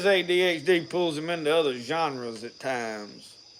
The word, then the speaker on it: genre: pulls him into other genres at times. I usually call them generes because that's the way it's spelled. It's genre, but it just makes people cringe when I say genre.